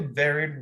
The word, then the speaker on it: buried: Y tiene ese sonido como si fuera una E en español.